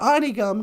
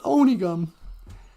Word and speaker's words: Onigum: little Community called onigum people call it already gum because they don't know how to pronounce Ojibwe but it's onigum and um they're always